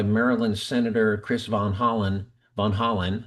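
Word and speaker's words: Van Hollen: Von Holland, not Holland, but Von Holland about, you know, the revocation of student visas and whatnot.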